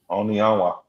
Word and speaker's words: Onianwa: Onianwa.